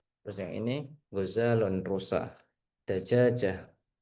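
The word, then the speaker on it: دجاجة: Dajajah dagagah. Tulisannya dajajah tapi bacanya dagagah.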